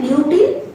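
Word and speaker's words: lutein: prevent করতে সাহায্য করছে উচ্চারণ এর আগের দুটো লিউডি আর জিয়াস এন্থি হুম উচ্চারণ হচ্ছে লিউটিন এন্ড জিয়াজন আচ্ছা লিমন হলো নেক্সট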